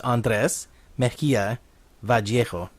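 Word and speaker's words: Andrés Mejía Vallejo: But it's Andrés Mejia Vallejo.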